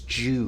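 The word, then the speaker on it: 中: here uh hyrule jew this is read as jew in this case because it means all of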